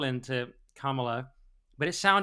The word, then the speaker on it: Kamala: He didn't endorse Kamala Harris, as we're apparently supposed to pronounce it, even though that's obviously just how Americans talk. Someone on the BBC was saying it was Kamala.